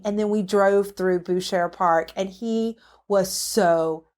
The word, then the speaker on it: Buescher: Yeah, I think it's pronounced Boucher. Boucher. I don't know if we're in Louisiana. We're moving that way, but it's Buescher.